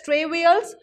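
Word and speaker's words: travails: the sense the difficulties you pronounce it as trey wheels suffered by the vada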